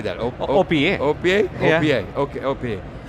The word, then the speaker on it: OPEA: OPEA.